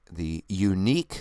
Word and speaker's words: Yuneec: For those of you who are curious, I use the Yuneec, which is spelled Yuneec, Q500, which I'm about to upgrade to a 4K camera, which they just released recently.